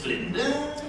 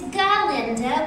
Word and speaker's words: Galinda: Miss Glinda? Oh, it's Galinda with a G. Yes, of course. Glinda.